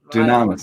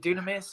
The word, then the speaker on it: Dunamis: Dunamis. That's what, Some people pronounce it Dunamis. I say Dunamis. Dunamis. Okay, Yes, it's that a sounds Greek better.